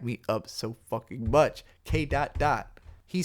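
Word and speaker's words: K.Dot: Because remember, it's spelled K and then a period and then D-O-T. People always say K dot. He himself has many times said dot, K dot, but it's K dot dot.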